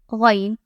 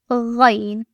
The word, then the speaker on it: Ghayn: Then there is our French friend Ghayn. Place a single dot above the circle part. This letter produces a gargling-like sound, similar to the French R.